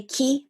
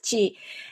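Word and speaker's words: 気: one is qigong chi we say ki but in chinese is chi and chi means our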